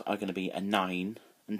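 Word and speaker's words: nain: My mum and dad are going to be a nine and tied soon. 9 is grandmother, and it's pronounced exactly the same as the number 9.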